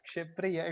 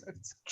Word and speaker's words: Shipra: It's not it's Shipriya. It's Shipra.